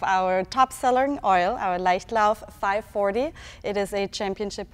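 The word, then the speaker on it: Leichtlauf: german one with us today so can you pronounce this name for us this is our light love our top selling oil our light love 540 it is a championship winning oil actually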